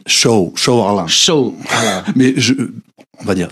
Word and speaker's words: Sou Alam: sur ma page sous So Alam. Alors moi je dis So Alam, mais la bonne prononciation c'est Show Alarm.